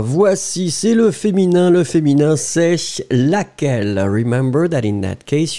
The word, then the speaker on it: laquelle: So, laquelle, you will write it with the double L and E, so you pronounce it laquelle.